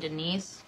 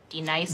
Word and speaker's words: Denise: Now, D-Nice. Do you mean Denise? Son of a bitch! You say your name right now. Denise? Say it right. Denise. Correctly. Denise. Right. Denise. Right. D-Nice. That's better.